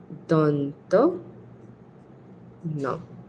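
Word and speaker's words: দন্ত্য ন: Danto means of the teeth. So literally this means the na of the teeth from the dant. Because this is pronounced by touching your teeth with your tongue.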